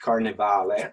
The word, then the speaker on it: Carnevale: So the book is Carnevale. It's pronounced Carnevale. That's the Italian pronunciation, which means carnival.